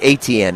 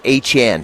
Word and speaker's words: Etienne: I would guess that you have never seen somebody with that name spelled pronounce it that way, but it's his name, and that's what he wants to be called. Say it again. It's not Etienne, it's Etienne.